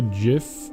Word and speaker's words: GIF: No, I say gif. Okay, if we can agree on one thing is that the English language is not consistent when it uses different letters to pronounce different sounds. It just isn't. So, GIF is still GIF. I don't say jigantic.